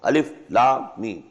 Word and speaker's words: Alif Lam Mim: These are pronounced separately and so they are the broken into pieces. Not pronounced as Alif Lam Mim Alam, no. Alif Lam Mim.